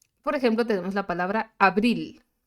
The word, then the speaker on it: abril: Bueno, por ejemplo, tenemos la palabra abril. ¿Dónde suena más fuerte? En la segunda sílaba. En la última sílaba, más bien, no en la segunda sílaba, en la última sílaba. Abril, ¿no?